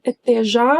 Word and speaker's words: até: But Jacqueline, you should have pronounced the A in até here. I know we skip it a lot, but it happens in the expression até já or até logo.